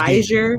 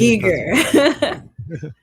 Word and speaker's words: Giger: Geiger, I think it's Giger. Geiger, I think it's Giger. I think it's pronounced Giger.